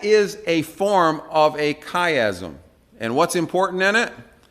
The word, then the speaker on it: chiasm: C-H, chai, but it's actually pronounced chi. It's a chiasm, all right?